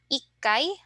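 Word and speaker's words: 一回: Our special pronunciation here is in the 1, 6, 8, and then 10. So ikkai, rokkai, hakkai, and jukkai.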